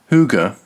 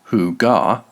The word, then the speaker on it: Hygge: Hygge, pronounced Hygge, not Hygga, is a Danish word